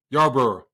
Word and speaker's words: Yarborough: Yarborough.